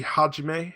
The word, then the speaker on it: Hajime: almost always a long a so-so would be Hajime as I i dinnae Hajime okay um apparently